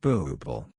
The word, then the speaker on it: Buble: holy book is now the Buble pronounced booble I gosh outsource my